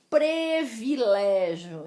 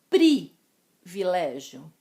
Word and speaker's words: privilégio: o contrário também acontece palavras que são escritas com i e nós pronunciamos com o som de e exemplos trazidos pela apostila previlégio em nome de jesus é privilégio e desperdiçar que desperdício